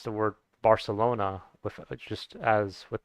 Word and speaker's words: Barcelona: or some of the sounds so instead of Barcelona would be Barcelona with the the sound which